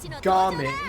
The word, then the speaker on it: Gaming: But the fact that they named him Gaming with that pronunciation instead of Jaming, which is essentially Oh. Jaming is the more standard Chinese pronunciation. The fact that they use gaming, which is the Cantonese, part of it is